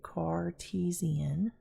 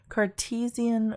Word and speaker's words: Cartesian: system or a Cartesian and I'm going to spell that for you Cartesian c-a-r t-e-s-i-a-n coordinate now it is coordinate because